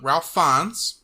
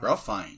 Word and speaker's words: Ralph Fiennes: Playing Ramses II was Ralph Fiennes. I hope I said that right. Ralph Fiennes.